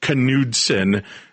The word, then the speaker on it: Knudsen: Yep, I married a Minnesota Dane, so it's pronounced Knudsen, and that's from Richmond, Virginia.